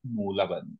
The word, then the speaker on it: मूलबंध: अच्छा जी, अब जो है अगला हम डिस्कस करेंगे, अगला हम डिस्कस करेंगे मूलबंध, मूलबंध, ओके, ए साइलेंट है, मूलबंध हम डिस्कस करेंगे।